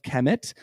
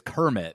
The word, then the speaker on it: Kemet: I've been reading it as Kermit this whole time. Oh, well, there's no R.